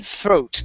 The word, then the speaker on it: throat: Now give me a T at the end.